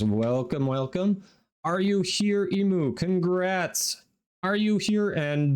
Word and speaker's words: Imu: a one-piece reference okay is it emu or IMU I am tell me how to pronounce it since you all I've not seen one piece clearly I'm not and I can buy Relic packs with faction standing yeah all right Emperor last call are you here I said it correct it's emu Emperor emu okay emu all right thank you for verifying do you try to